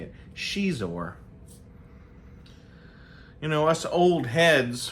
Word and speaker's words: Xizor: I've heard people say Prince Xizor, but I think it's Xizor. I think it's Prince Xizor.